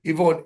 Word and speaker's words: Ifon: Yvonne. Her name is spelled IFON. You know the Welsh.